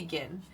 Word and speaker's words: Jin: been pronouncing it because it could be gin but I know for me I pronounce it Jinn like Jin and tonic because he's basically a